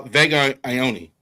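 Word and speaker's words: Vega Ioane: Uh Vega Ioni.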